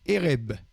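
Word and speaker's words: ערב: garantie, soir, Alors le soir, c'est Ereb. Erev. Ça s'écrit Erev, mais ça se prononce Ereb.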